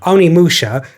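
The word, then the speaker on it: Onimusha: Onimi Musha. Oni Musha.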